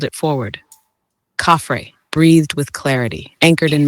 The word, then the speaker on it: Khafre: The name is Khafre, properly rendered as open quote, Khafre, with the first syllable resonant in the upper throat and the second light almost like breath.